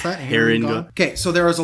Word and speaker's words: Harengon: Your Harengon for specifically how to pronounce that. Harengon.